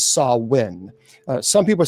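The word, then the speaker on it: Samhain: Celtic festival known as Sam Hayne. Uh now, some people would say it's sawin. Uh it's officially pronounced as sawin. Uh some people say it's Sam Hayne that well we saw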